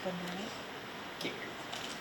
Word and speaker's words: Benoit: Or Yeah, Benoit is fine. Benoit, or is it Unless you want to get fancy, you can say Benoit. Benoit? I didn't know if we were doing the French or the Massachusetts pronunciation, but I'll answer both.